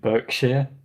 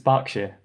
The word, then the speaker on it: Berkshire: It's just like Berkshire that's actually spelt with an E. So it's technically, if you looked at it, you would probably pronounce it Berkshire or Berkshire. It's Berkshire.